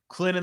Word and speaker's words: Clinton: Clinton the T is silent.